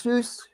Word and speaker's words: Asus: I mean, it's Ace. I don't know if you say it right. It's Asus. Asus.